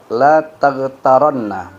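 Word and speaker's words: لا تغترنّ: Wasaniyatu la taghtaranna. Betulkah bacanya? La taghtaranna. Ra-nya bertasydid ya.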